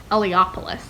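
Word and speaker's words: Eliopulos: start the fascinators by the andrew eliopoulos i learned from the audiobook last night is how you say his last name and i got through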